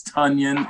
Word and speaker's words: Tonyan: It's Tonyan, and it rhymes with Funyan, even though it's spelled with an O.